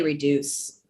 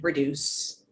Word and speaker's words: reduce: but we just say reduce we pronounce the d like a normal d reduce same thing what's with